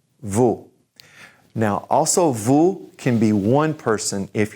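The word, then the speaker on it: vous: now this means you plural so everybody say vu vu now also vu can be one person if you're showing respect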